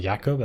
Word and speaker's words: Jakub: Where it's like, it looks like Jacob, but it's actually pronounced Jakub.